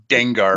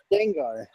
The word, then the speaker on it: Dengar: It rhymes with a Pokemon.